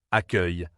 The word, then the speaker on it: accueil: Il faut bien fermer le nez et laisser l'air passer par la bouche.